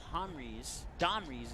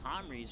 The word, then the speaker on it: Domries: That's why I said it wrong. Made the D look like an H. But anyways, it's something to do with Homries from first and second.